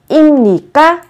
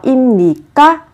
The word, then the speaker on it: 입니까: Vị trí받침 là 비읍, theo sau là phụ âm n. Thế thì ở vị trí của bờ này, các bạn cần đọc biến âm thành âm m. Như vậy các bạn sẽ phát âm là 임.